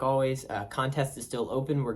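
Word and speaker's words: Alvvays: It's one of my favorite indie albums, and that's Always, self-titled. Now it's always, the band is Always, but they spell it with like 2 V's to kind of make a W, which I think is really neat.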